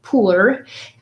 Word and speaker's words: pur: So the next word that I want to talk about is pur, or pur, as it's pronounced, the beginning of Purim, which is the festival